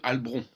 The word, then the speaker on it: Halbronn: Au lieu de dire Albron, il faut dire Albron.